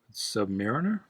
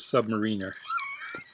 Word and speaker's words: Submariner: But just like I used to pronounce Red Sonja as Red Sonja, I was one of those idiots who thought it was Submariner, not Submariner.